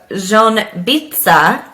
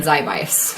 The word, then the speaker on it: Ziębice: Wow, that was Ziębice. impressive. Yep. I know. And look how it's spelt. Isn't that crazy? Yeah, I definitely would have said Ziebice. That's what it looks like.